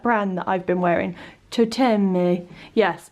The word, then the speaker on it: Toteme: Toteme. Yes, it's very Toteme. I feel like that's a bit Italian, but it's a French word or name.